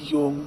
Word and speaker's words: Jung: अच्छा याद कर लो, JUNG योंग। बहुत से जाहिल इसे जंग पढ़ते हैं और कुछ जोंग जिन्हें काबिलियत का हैजा हो जाता है वो सोंग पढ़ने और लिखने लग जाते हैं।